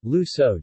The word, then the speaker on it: Luções: Portuguese, Lucan, using the demonym Lucos, Portuguese pronunciation, Lusoj, Spanish, Luzones.